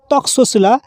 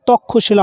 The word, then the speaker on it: তক্ষশিলা: এল এ lux Cecilia হিন্দিতে যেমন আমরা বলেছিলাম তক্সশিলা ইংরেজিতেও তাই বলতে হবে তক্সশিলা কারণ কে এবং এস এইচ দুটোকে উচ্চারণ করতে হয় কিন্তু শুধুমাত্র বাংলার ক্ষেত্রেই তক্ষশিলা হবে ক্ষয় এর মত উচ্চারণ হবে নেক্সট নাম্বারে রয়েছে হিন্দির